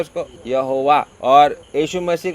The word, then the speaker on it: यहोवा: और ये मैं हूँ जो है, उसको इब्री भाषा में अगर हम उसका उच्चारण करेगा तो उसको यहोवा बोलते हैं। क्या बोलते हैं उसको? यहोवा।